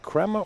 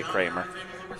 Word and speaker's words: Cramer: folks Cramer right yes is it pronounced crema creamer yeah we say Cramer okay I know I